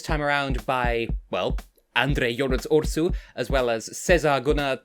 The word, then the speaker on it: WRS: Andrei Ursu, better known as Urs, which it's stylized as WRS, but it's pronounced as Urs, which is the Romanian